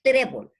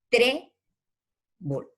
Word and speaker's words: trébol: y que sea grave, digo, por ejemplo, trébol, lleva en la E, trébol, dos sílabas, trébol. Entonces, en la tre, que es en la penúltima sílaba, lleva la tilde, o